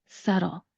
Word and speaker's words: subtle: Like I said, we are not going to pronounce the B that is in the letter. Instead, we're going to start with the S sound, and then we're going to put in that schwa vowel sound, that U vowel sound. So the first syllable is sa, sa, that sound with an S in the beginning.